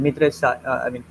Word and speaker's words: MITRE: It is a complete word, and many Hindi speakers call it Mitre. Even I call it Mitre, but Mitre is not a correct pronunciation.